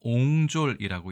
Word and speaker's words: 壅拙: 이 단어는 우리가 옹졸이라고 읽습니다.